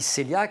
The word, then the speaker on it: cœliaque: Le premier, vous venez de le citer, c'est la maladie cœliaque. Alors ça s'écrit C-O-E dans l'eau, L-I-A-Q-E, mais ça se prononce cœliaque.